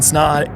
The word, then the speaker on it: Snaadt: my name is snod it rhymes with OD and you're listening to